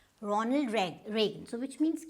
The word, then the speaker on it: Reagan: Now this is not Reagan, it's Reagan. Ronald Reagan. So which means you do not have to go with this E sound.